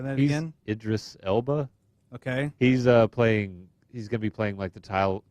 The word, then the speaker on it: Idris Elba: Am I pronouncing his name correctly? Say that He's again. Idris Elba.